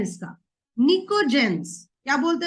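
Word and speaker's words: pnictogens: तो इट इज निकोजेंस, NICTOGENS, निकोजेंस बोला जाता है।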